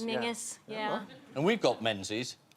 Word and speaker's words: Menzies: And you have Menzies up in Scotland, which is pronounced Mingus. Mingus, yeah.